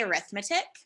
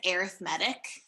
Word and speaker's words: arithmetic: does say arithmetic um so like live and live like those two words live and live you know how you like change the pronunciation based on like how you're using it same with this word it doesn't say arithmetic it says arithmetic um so it's not